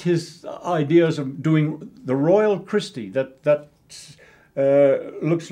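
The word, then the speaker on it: Reuel: ideas of doing the Royal Christie. That looks like, Dr. Fritz Rule it looks like, but it's pronounced Royal. So we have the Royale, people say sometimes, but it's really Fritz Royal's Christie's.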